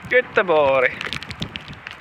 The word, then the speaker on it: Göteborg: If you don't know what city I'm talking about, it's because in English it is pronounced Gothenburg, but in Swedish it is pronounced Göteborg. I may not have the best Swedish accent.